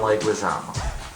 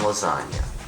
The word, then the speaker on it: Leguizamo: Alright, this has been a review of Pest with John Leguizamo, who I like to call John Lasagna, because I think that mispronouncing people's names intentionally is funny.